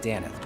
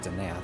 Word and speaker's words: Denath: Not Danith, but Denath. I've been saying his name wrong for like 20 years.